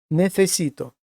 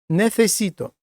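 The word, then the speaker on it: necesito: Зверніть увагу, як буду вимовляти оце слово нефесіто. Отут ми маємо міжбове с ф несіто, а тут звичайне с нефесіто.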